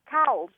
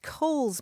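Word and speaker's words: Cowles: I would pronounce it cow's mountain right right I know and that's that's my problem because properly that mountain is pronounced Cole's Mountain it was named for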